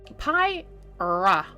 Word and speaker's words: Pyra: guide for my username piie ra think of pie and then the sun good raw and